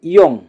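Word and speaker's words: 이응: তারপরে আছে ইয়ং, ইয়ং, ইয়ং। ইয়ং এর উচ্চারণ হবে অনুষ্কার অথবা উয়ের মতো।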